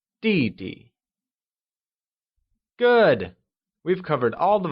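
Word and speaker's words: 弟弟: last one in line younger brother translates to DD which is pronounced using the falling tone let's try and say DD good we've covered all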